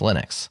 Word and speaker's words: Linux: the record of saying my name is lonus stal and I call Linux Linux hello this is lenus